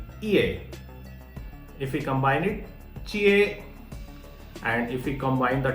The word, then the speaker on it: jie: Okay, so the rule for J is Chinese people don't say it like that way, like J. Okay, it's actually pronounced Ch.